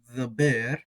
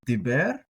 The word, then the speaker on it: דבר: and we see that the dalit does not have a dogish uh but the bait does that could shift our pronunciation to a softer kind of D sound so uh the bear something like that depending